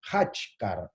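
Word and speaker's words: Khachkar: Son los Hachkar, o se puede escribir con J, se puede escribir con H, pero se pronuncia Hachkar, son estas piedras que vendría a ser como los antiguos celtas.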